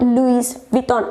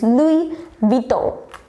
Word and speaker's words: Louis Vuitton: Yeah, Louis Vuitton or something like that, but no, it's not Louis Vuitton, it's Louis Vuitton.